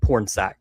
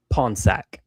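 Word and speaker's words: Pornsak: The writer for Absolute Green Arrow and for Absolute Black Canary his name is spelled Pornsack, but he pronounces it Ponsack.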